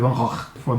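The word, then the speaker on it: Van Gogh: Van Gog né cara os holandeses eles eles não falam o G né então a pronúncia correta é van R for na na Holanda você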